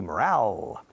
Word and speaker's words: morale: And to lift your morale, escrito morale, hay una E al final, por eso la pronunciación cambia de moral to morale.